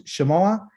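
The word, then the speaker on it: שמוע: This little part right here that says Shamoah, 3 syllables, Shemoah, it still means Shema, but it's in a different way.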